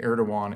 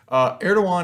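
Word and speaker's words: Erdoğan: the impact of president erdogan in turkey now the first big thing is of course know how to pronounce the name right so rasheep tayyip erdogan don't be the team that calls him erdogan but at any rate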